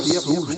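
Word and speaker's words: סוס: A palavra cavalo em abrite é sus, que se pronuncia sus.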